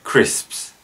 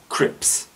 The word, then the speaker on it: crisps: list is the word crisps this gets pronounced many times as crypts the sps needed some practice in order to pronounce it correctly this in a sentence